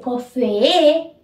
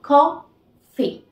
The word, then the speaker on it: coffee: siguiente que sería café y no se dice café no no ni café sino con fe Tan sencillo como eso